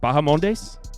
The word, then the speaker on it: Bahamondes: lendo minus 135 next up Turner vers uh baham mes I'm not even going to uh damn I probably butchered that uh no that was that was correct bahamondes yeah yeah all right nailed it um so